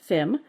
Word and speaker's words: Fem: It is Dutch or West Frisian, pronounced Fem.